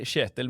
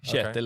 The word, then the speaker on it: Kjetil: It's like an SH.